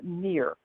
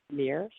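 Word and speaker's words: Mihr: This angel's name is Mir. M-I-H-R is how her name is spelled. Mir.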